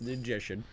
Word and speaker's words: Ninjician: He kept saying your name wrong, and I was like, "It's Ninjician. It's Ninjician."